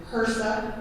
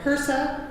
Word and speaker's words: HRSA: So HHS, Health and Human Services, HRSA is the terminology you'll hear the acronym pronounced out loud.